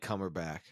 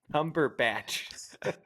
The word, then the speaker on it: Cumberbatch: seen that movie Magneto I don't like cumberbach I don't either Cumberbatch I don't know if you're doing a bit or if you just genuinely can't pronounce this I do like